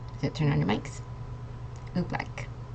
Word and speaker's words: Oobleck: repeat after me so turn on your mics o black o black mhm black black okay looks like